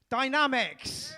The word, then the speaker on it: Dynamix: Dynamix.